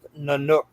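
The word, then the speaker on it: Nynuk: When Mark Wahlberg was included in the lineup, the band went by Nanook, pronounced Nanook.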